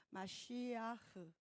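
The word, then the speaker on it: משיח: 흐를 뭐 긁는 발음을 해야 된다고 하는데 마시아흐, 파자한다면 어떨까요?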